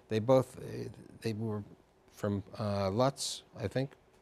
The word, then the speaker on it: Lodz: both, they were from Lutz, I think. I think it's, I don't know Polish, but they used to pronounce it Ludz, okay. L-O-D-Z in the anglicized version.